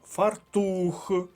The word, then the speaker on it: фартух: к наступне цікаве слово фартух наголос на другому складі слово до другої колонки фартух далі від чим